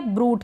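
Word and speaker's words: brood: फिर यह है ब्रूड। क्या है? बी आर को ब्र पढ़ रहे हैं। इसको भी ब्रूड पढ़ेंगे।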